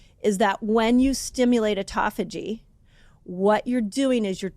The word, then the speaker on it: autophagy: People say either call it um autophagy or autoagi. People say it different. You can tell me I said it wrong. I kind of landed on autophagy. I feel like autophagy is the best way to say it.